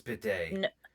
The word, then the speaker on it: bidet: It's bidet. We're going to fight. No. He didn't spell it right.